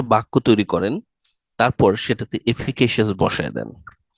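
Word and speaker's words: efficacious: করে আছেন আমার সাথে সাথে আপনারা এই শব্দগুলোর উচ্চারণ প্র্যাকটিস করুন প্রথম শব্দটা এফিকেশাস এফিকেশাস এফিকেশাস সবাই এফিকেশাস এফিকেশাস এফিকেশাস এফিকেশাস মানে হচ্ছে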